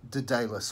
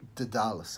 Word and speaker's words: Daedalus: Now, the first name I'm going to bring up is Daedalus or Daedalus, okay? It's spelled D-A-E-D-A-L-U-S.